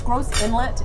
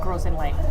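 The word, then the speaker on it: Gros Islet: called gross in length it's gross Inlet is how it's written but it color we call it pronounced it grows in length crostini yeah Oh fancy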